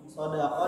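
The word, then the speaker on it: صَدُقَة: Sodako dengan sod yang dipatah dan huruf dal yang didhamah yang berarti mahar, maknanya seperti kata as-sodaq atau as-sidik yang berarti mahar.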